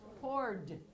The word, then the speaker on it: poured: Pour, and the past tense is poured. It rhymes with Ford, the car. Ford, poured. Even though it has all those different letters.